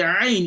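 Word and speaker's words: ع: But when you pronounce the ain, it's going to be the opposite. The ain, you restrict the passage of the airflow from the throat.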